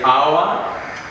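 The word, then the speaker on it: hour: We want to see which are these examples of these words that are silent, or that H is silent in these words.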